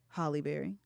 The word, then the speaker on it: Halle Berry: How do you say Halle Berry? Halle Berry. Like Holly? Absolutely.